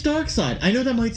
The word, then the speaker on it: Darkseid: It is Darkseid, but it's S-I-D-E. S-I... Oh, it is. Just regular side. But it is Darkseid.